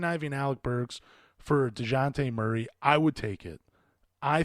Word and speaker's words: DeJounte Murray: on one of my last episodes, and that's DeJounte Murray. Wow, I keep saying his name wrong. DeJounte Murray, excuse me.